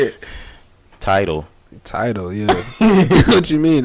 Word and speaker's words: Tidal: Tidal, yeah. What you mean? It's like Tidal. A tidal wave.